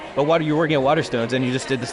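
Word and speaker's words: Waterstones: you're working at I'm going to get the name wrong weather Stones water stes the P yeah yes it's easy to mix them up if you're an ignorant dur America um but what you're working at water stones and you just did this thing on spec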